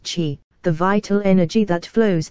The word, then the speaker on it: qi: Acupressure is rooted in the concept of qi, pronounced qi, the vital energy that flows through the body along meridians or energy pathways.